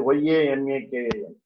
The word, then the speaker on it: yamakam: Okay, so Yamakam, it's called the Y-A-M-A-K-A-M.